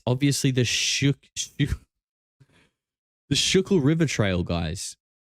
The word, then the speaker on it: Schuylkill: Schuylkill is how it's pronounced?